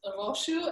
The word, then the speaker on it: Rosu: be with you yeah it's pronounced rosu and I know it's